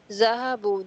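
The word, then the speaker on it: ذهبوا: Zahabu, they went. The subject in the waw. The alif after the waw is not pronounced.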